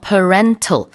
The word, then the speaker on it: parental: parental, parent라는 단어가 들어가요. 뒤에 al 붙이면은 발음이 parental이 아니라 parental 이렇게 바뀝니다.